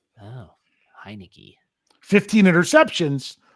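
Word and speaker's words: Heinicke: Oh, Heineke.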